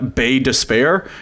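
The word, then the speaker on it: Baie d'Espoir: a town called uh bay despair which was founded as the french as bei despoire which means bay of hope but the english took it over and just tried to pronounce it phonetically and completely reverse the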